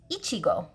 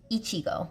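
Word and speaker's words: いちご: Sometimes, like in some anime series, it's a name of someone, of a girl, and it is Ichigo. Ichigo.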